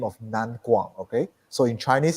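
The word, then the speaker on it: Nanguang: are our company is by the name of nan guang okay so in chinese it's called nan guang right so some of you might pronounce it that's nan guang okay so we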